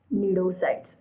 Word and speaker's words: cnidocyte: special cells called as nidocides see the spelling of nidocide it start with c c is silent neurocytes so these pneudocytes